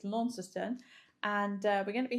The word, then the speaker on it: Launceston: We arrived in Launceston, which I keep wanting to call it Launceston, because that's how English would pronounce it, but it's Launceston.